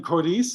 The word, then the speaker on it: Coriz: I'm here with Aspen Coriz. Is that the correct pronunciation?